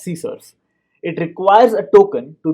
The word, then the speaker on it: CSRF: from cross-site request forgery csrf pronounced as scissors it requires a token